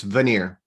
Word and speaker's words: Vannier: should spell your name what is the right pronunciation of your second name it's veneer when you're is it is it is it